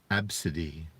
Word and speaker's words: Abcde: Tracy Redford told ABC affiliate, KABC, her daughter's name is Abcde, which is pronounced Abcde.